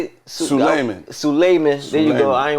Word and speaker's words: Suleiman: streets we got Su how you say it Suman there you go I a want to [